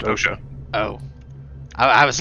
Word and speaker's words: OSHA: Asha. OSHA. It's pronounced OSHA.